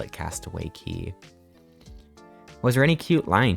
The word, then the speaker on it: Castaway Cay: Why is K pronounced key?